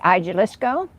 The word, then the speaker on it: Jalisco: The one over in Spanish Springs, Jalisco, and I can't say that right because I know you don't pronounce the J, but it's hard for me to say it that way.